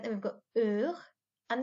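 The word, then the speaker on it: heures: silent then we've got er and the s is silent on the end this word is uh okay if you don't like a food you might say er think about it that way okay so er means ours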